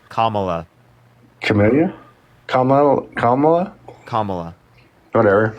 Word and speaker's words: Kamala: did you say her name was K La Kamala okay let's see I was close okay not